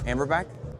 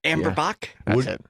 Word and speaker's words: Amber Bock: guys reckon Bloody Mary amber back okay apparently I found out later that's not the name of that beer jack amber Bock that's how you would pronounce it what did you call